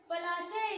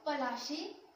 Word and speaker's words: Palashi: Palasi is an anglicized pronunciation of Palashi.